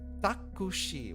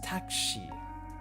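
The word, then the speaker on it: タクシー: Like you try to read this takushi. What the heck is takushi? It's takshi. It's a taxi.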